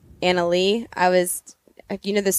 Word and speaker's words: Anna Lea: so please say people say Leah it's actually uh Anna Lee I was you know